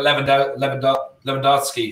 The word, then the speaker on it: Lewandowski: And then you're looking at Lewandowski. How do you say his name? Robert Lewandowski.